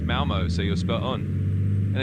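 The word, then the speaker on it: Malmö: Is it Malmo? Yeah, you got it. It's basically pronounced Malmo, so you're spot on.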